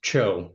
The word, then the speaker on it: Cho: Uh it's Cho as in rhymes with Cho.